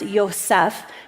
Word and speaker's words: Joseph: Now, Joseph, his name, it would be pronounced Yosef, means to add.